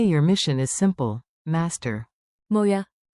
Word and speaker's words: Må jeg: Think moi. It sounds like moya.